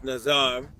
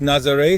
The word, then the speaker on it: Nazaré: I parked the car here on the little streets of Nazar. Actually, I think it's pronounced Nazare since it's in Portuguese.